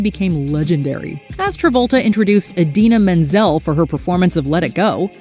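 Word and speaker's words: Idina Menzel: 12 John Travolta introduces Adele desim it's not that John Travolta simply mispronounced a name it's that he shockingly butchered it seemingly creating a whole new one in the process yep The Pulp Fiction Stars Blender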